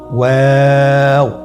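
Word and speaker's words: واو: দুই ঠোঁট গোল করে মাঝখানে ফাঁক রেখে হরফটি উচ্চারণ করতে হবে।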